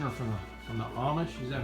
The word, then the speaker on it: Amish: from her Garden or from the from the Amish is that how you say it yeah and